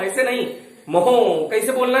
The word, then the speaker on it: mho: तो इसको कैसे कहोगे? मोहो। मोहो कैसे कहोगे? भौंकना नहीं बेटा, कोई लोग कह रहे हैं भौं भौं, ऐसे नहीं, मोहो कैसे बोलना है?